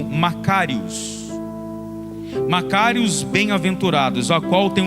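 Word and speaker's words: μακάριος: Então quando ele está dizendo bem-aventurados, no original, no grego, se pronuncia como Macários.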